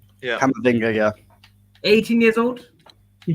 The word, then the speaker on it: Camavinga: Camavinga, how do you pronounce it right? Yeah, Camavinga, yeah.